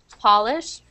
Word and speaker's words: Polish: So like a pole and polish. There's no word no Paul word, so you can think of like doll as a close second. So that's how you want to pronounce the different O vowel.